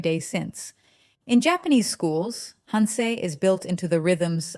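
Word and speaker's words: 反省: Here is where Japan introduces the concept that may be the most quietly radical of all, hansei, pronounced hansei, hansei, fanshing, means self-reflection, but not the vague, passive kind.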